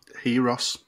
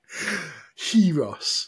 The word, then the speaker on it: gyros: Gyros or gyros? Heros. Oh, fuck off. Well, that was really hard, wasn't it? Heros. Who do you think you are? That's how you pronounce it in Greece.